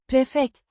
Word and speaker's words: prefekt: Att vara To be prefekt. means prefect or head, as in head of a department. Pronounced Prefekt. with a distinct emphasis on the first syllable.